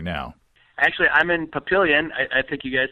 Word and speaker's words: Papillion: Actually, I'm in Papillion. I think you guys said Papillon, which is the correct way to spell it and pronounce it, but we, in Nebraska, we're just Papillion.